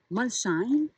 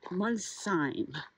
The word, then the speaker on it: Molsheim: qui finissent en EIM, on ne prononce pas le H. Donc ce n'est pas Molsheim, mais plutôt Molsheim.